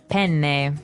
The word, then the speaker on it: penne: All right, so how do you pronounce, we said penne in English, in American English, but in proper Italian it would be? Penne. Penne. So you double pronounce the consonant.